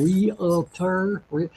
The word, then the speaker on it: Realtor: Is there a difference between a real estate or a realtor? Say that for me. What's a realtor? A realtor. Realtor, okay, yeah. That's a 2-syllable word, all right.